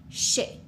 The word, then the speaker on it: chercher: chercher. Okay? If we had a word like chercher, we have two syllables. We have char and she.